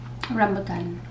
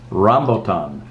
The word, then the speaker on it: rambutan: How do you pronounce it? Rambutan. Rambutan.